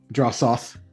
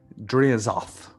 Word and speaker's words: Dreazoth: and he'll look to Drosoth. Is it Drosoth? How do you pronounce it? Is Dreazoth. Drea. Okay. Dreazoth. Dreazoth, how you must tell me this tale of how you claim these eggs.